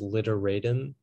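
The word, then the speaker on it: literatim: Yeah, so the only pronunciation is literatum.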